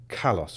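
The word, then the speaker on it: καλός: And particularly Plato saw beauty as kalos or kalos. I think that's the right way to say it.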